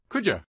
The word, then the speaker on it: could you: pronunciation tip pronunciation tip could you sounds like Kuja listen could you wash